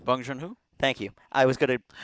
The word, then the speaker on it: Bong Joon-ho: I know I have some of the syllables right, but let's see Yep. here. Bung. Bong Joon-ho.